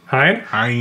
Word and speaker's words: Hine: a review for a long time Hine or hene how do you say it Hine Hine h cigar Reserve it's an EXO and this